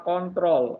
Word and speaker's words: CTRL: Kalau ini bacanya adalah kontrol, ya, kontrol plus O.